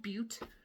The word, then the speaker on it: Butte: It's called Butte, but it's spelled butt, like Butte.